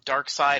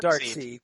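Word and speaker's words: Darkseid: It's kind of like Dark Side and Dark Seed, right? When you read the comic, it was like, hey, nobody calls it Dark Seed.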